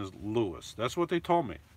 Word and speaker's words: Lewes: when I was there they told me it's pronounced like Lewis it looks like it's yeah like you have here le w es but the pronunciation is Lewis that's what they told